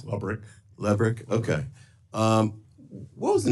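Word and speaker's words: Lebryk: And I believe you were approached by the highest-ranking career official at Treasury, David Lebrick. Am I pronouncing his name correctly? I believe it's Lubrick.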